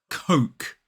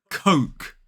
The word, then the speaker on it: Coke: It is Coke. Coke. K-O-K. So the correct pronunciation of this brand is Coke. It rhymes with joke and smoke.